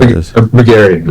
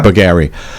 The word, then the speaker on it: Bougari: Bugger, do you pronounce it buggery or bugary or buggary? Yeah, buggary.